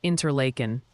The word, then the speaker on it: Interlaken: The Pronunciation Council has decreed it's Interlaken and Groton for those spots in New York.